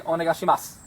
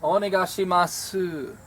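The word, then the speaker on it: お願いします: here I picked up onegai shima su you don't pronounce the O you drop the the vowel at the end but it's not completely dropped we wouldn't just say onigashima it's oh my gosh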